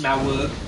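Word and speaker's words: Smough: Like, for instance, last week I was struggling so bad with Ornstein and Smo, however you pronounce his name. It's pronounced Smauwug. Smauwug.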